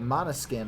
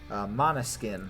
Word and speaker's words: Måneskin: This year, a rock band won, a band called Måneskin, I believe it's pronounced. It's spelled M-A-N-E, like a horse's mane, and then skin.